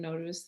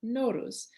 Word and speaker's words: Nowruz: So I'm pronouncing Nowruz the way that a lot of Iranians pronounce it, Nowruz.